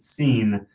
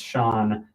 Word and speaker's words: Sean: because I've I've met so many people who pronounce it scene then when they realize that it's Shawn they almost feel mad because it's kind of like a silly move but they're mad at the name.